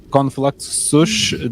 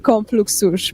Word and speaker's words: Konfluxus: Konfluxus, that's how it's pronounced. Yeah, I pronounced it like that. Yeah, I said it. I said it like konfluksus, but it doesn't have to be pronounced that way.